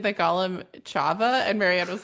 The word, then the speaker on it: Chava: think he pronounced the names in like digestible American sounds, which is totally fair. So he pronounced it Hava, but Hmm. it's probably like Hava. Chava. Chava and Right.